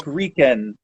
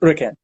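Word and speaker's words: uraken: And I think that it was probably a matter of who we heard it from, that it sounded like Riken when they were trying to say Uriken.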